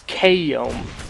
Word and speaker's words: Kiom: Yeah, evidently it's Kiom. That's how to pronounce it.